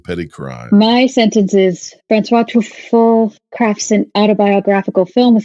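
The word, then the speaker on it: François Truffaut: Can you give me the French pronunciation? Francois Truffaut.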